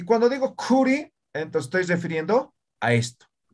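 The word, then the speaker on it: khuri: No es complicado, mira. Aka, uka, kaya, kuri, ¿no? Simples, ninguna es, no, esto es aspirado, estos dos aspirados, ¿no?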